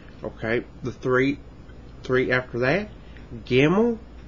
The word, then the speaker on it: Gimel: Vet is spelled V-E-T. Okay, the three after that, Gimel, Daled, Hey.